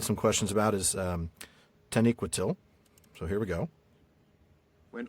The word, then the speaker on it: Taniquetil: So, it's like there's um there is a secondary emphasis on that last syllable. Mhm. Uh though the first one is the louder or the the first one is the primary emphasis. And the the nee Taniquetil. Yeah, Tan- I'm sorry, the second syllable, but the first Yeah. Taniquetil. Third, third to last syllable.